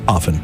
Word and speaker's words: often: They decided that either is permissible now. Oh my gosh. But the official original pronunciation was offen.